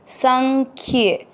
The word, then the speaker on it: संख्ये: हुआ है वो है स के ऊपर बिंदी लगाएगा जिसका उच्चारण होगा आधा न, संग। नाक से न बोल रहे हैं। आधे ख के साथ ये खे, संख्ये।